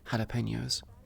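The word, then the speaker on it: jalapeños: It's the same with, how you pronounce the word jalapenos. It's spelled jalapenos, but pronounced jala with an H.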